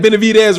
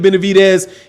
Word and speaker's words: Benavidez: david benedict you said benavidez right for non thank you brother i appreciate it you said it's pronounced like dead like dez bryant brian's name is dude it's a d it's not a t you see i don't